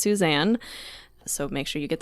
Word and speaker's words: Suzanne: love her for it so I call her Susan her her name is pronounced Suzanne so make sure you get that right when